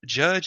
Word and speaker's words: Jydge: is a game called Jydge. All right, and Judge is spelled Jydge, and it's not like licensed.